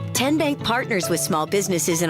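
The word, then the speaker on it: TnBank: How do you say the name? Kien Bank. Nope. Kin Bank. Uh-uh. So, what is it? Tenbank. 10 as in Tennessee.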